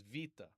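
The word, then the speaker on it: βήτα: Now, you can see in this old one, this was Arasmian when I did it, but we're gonna pronounce it as vita.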